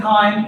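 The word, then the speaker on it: chyme: then it's saying acid K I mean really we just call it K so I know it's a CH but we pronounce the CH as a hard k sound when the Val V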